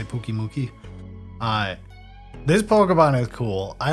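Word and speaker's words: Pyukumuku: Puku Muku, I guess is how you pronounce it. I always say Pooky Mookie.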